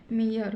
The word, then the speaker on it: mere: इसी प्रकार MERE, यहाँ पर भी ई के बाद RE आ गया है, तो इसका भी उच्चारण क्या होगा, इसका भी उच्चारण होगा ई। तो इसको हम क्या पढ़ेंगे, मियर।